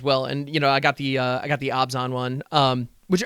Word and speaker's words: Abzan: And I did get a pre-release kit as well, and I got the Abzan one, which apparently it's pronounced Abzan, not Abzan. I don't.